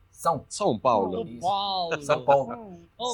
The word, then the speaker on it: São Paulo: Digamos, pronuncie una A y una U unidas. Au, Sao, ¿sí? Ahora Sao hágalo Paulo, nasal. Son. São Paulo, Listo.